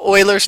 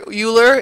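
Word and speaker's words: Euler: It's actually called Oilers's number. And I know this word here, Uler, it looks like Uler like Buler, but Uler, but it's not. It's Oiler is how it's spo pronounced.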